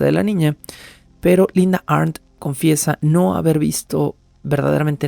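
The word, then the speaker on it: Arndt: el episodio anterior linda ARN en caso de que tengan dudas de cómo estoy pronunciando el apellido es a rnt ARN con una t final ARN quien eh dijo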